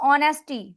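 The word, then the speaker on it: honesty: है एच से है एच इज अ साइलेंट अब तो आपको समझ आ रही होगी एच से स्टार्ट होता है लेकिन एच साइलेंट है ओ से स्टार्ट होगा नहीं आता चल कोई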